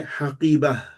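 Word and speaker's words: حقيبة: example, if you say, if we're reading and the last word in the sentence is haqibatun, you can just say haqibah. Yeah, because on the last letter, you don't need to pronounce it fully at the end of a sentence.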